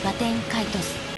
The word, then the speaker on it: Baten Kaitos: I'm mispronouncing the name, I did a little research before the video, and this seems to be the most official pronunciation that we have. This can be heard in some Japanese commercials, Baten Kaitos, and even in an